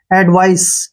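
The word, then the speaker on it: advice: ई ठीक है ना वी आई का उच्चारण हम वाई करेंगे वाई और सीई का उच्चारण स होगा ठीक है ना एडवाइस क्या पढ़ेंगे इसको एडवाइस एडवाइस होता है उपदेश ठीक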